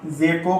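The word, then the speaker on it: ذکی: अब आप इसकी हिज्जे करो, जाल जे को काफ मिलाओ, जे काफ ज़क, और काफ को ये छोटी ए मिलाओ, काफ छोटी ए की, तो इसे पूरे को लाइए ज़की।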